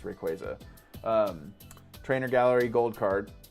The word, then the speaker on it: Rayquaza: I always say Rayquaza. Apparently the official pronunciation is Rayquaza.